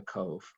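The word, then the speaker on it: Cobh: fabulous this is cove cobn is pronounced cove this is um the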